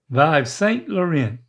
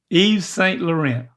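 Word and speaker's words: Yves Saint Laurent: And they don't say the T's. The T's are silent. Y luren closer. What the the first word? It's not Y a that's a Y V E S. Vive St. Lauren. Vive. Um, this is a tough one. Okay. Uh, if it wasn't a Y, but it was two E. Eve St. Laurent. Woo, that's close. And then it's and then there's no there's no t sound.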